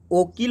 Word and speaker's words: ओकील: तो उर्दू और फारसी के जो शब्द हैं उसमें ओ का जो उच्चारण होता है उ की तरह होता है। जैसे वकील, वकील का क्या चीज़ हो जाएगा, ओकील होगा, और वकील, दो तरह से